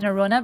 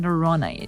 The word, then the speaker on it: Norrøna: Yeah, in Norwegian we call it Norrøna, but here in the States, or I guess in most other markets, it's pronounced Norrøna.